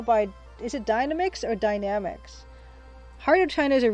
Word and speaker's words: Dynamix: Dynamics, that's how it's pronounced by the little guy in the Incredible Machine intro.